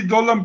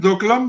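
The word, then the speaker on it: Doklam: And they have claimed 3 kilometers south of the tri-junction on the Dolom Plateau. Everybody calls it Dokalam, but the correct pronunciation is the Dolom Plateau.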